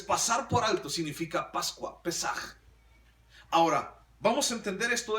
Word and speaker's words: Pesaj: Y entonces la palabra hebrea para Pascua es la palabra Pesaj. Así se escribe, así se dice, Pesaj.